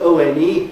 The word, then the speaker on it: one: Because the word spelled O-N-E, one of the nastiest spellings in the English language, isn't it? It begins with a vowel letter, but the spoken form begins with a W.